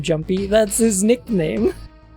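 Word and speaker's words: Junpei: Did they seriously pronounce his name Jumpy? That's his nickname. That's his nickname. Yeah. Yeah. She calls him Jumpy. No, they pronounce it Jun Bay. The pronunciations are accurate.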